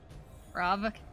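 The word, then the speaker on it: Svarog: Swarov. There's a G at the end, but like I don't think you pronounce the G.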